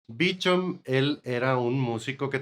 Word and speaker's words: Beauchamp: Aquí es donde entra George Beauchamp, que se escribe Beauchamp, que pues es un nombre en francés, pero yo supongo que por vivir en Estados Unidos o no sé qué rollo, lo pronunciaban Beecham. Beecham, él era un músico